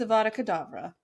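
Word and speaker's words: Avada Kedavra: should know the death whatever okay how to pronounce death spell absolutely correct it's aada kadavra am I going to kavra no you said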